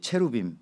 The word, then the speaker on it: 체루빔: 그다음의 그룹이 이제이 체루빔 그죠? 예. 아까이 그룹이라고 하는 그룹인데 체루 체루 체루빔이라고 읽어야 되는데 그룹이라고 한국말은 써놔서 헷갈려요.